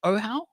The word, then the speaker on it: Ohau: Am I pronouncing it right? Ohau? Yes, that's correct.